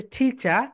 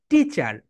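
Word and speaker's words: teacher: British sound হচ্ছে টিচা and American sound হচ্ছে টিচার। টিচার।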